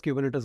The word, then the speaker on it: Kubernetes: Do you know Kubernetes is sometimes abbreviated to K8s, but it is pronounced as Kubernetes only.